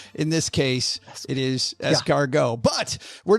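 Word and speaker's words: escargot: And why would put it there if you're not supposed to pronounce it? It is. Very good point. However, in this case, it is esargo.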